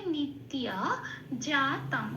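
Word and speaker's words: নিত্যজাতং: জল একটু লাল দিয়েছি কারণ জফলাকে সংস্কৃততে হস প্লাস অন্তস্থ ই বলে উচ্চারণ করে এক নম্বরে তালিকাভুক্ত করে দেওয়া আছে। এইবার আমি তফলা দিয়েছি কারণ উপরের প্রাকৃতি হস প্লাস অন্তস্থ লিখে দিয়েছি। এবার এই যেটা লেখা আছে সেটা ত এর সাথে পড়ে দিতে হবে। ত এর সাথে হসই প্লাস অন্তস্থ পড়ে দিলে যে উচ্চারণটা বেরিয়ে আসে ত হসই অন্তস্থ। তিয়। ঠিক এই তিয় উচ্চারণটা এখানে করতে হবে।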